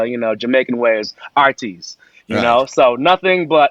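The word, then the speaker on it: Heartease: from a place called Artis and um Jamaicans for some reason don't pronounce the h if it starts off with a a word so it's h-e-a-r-t-e-a-s-e but the you know Jamaican Way is Artis you know so nothing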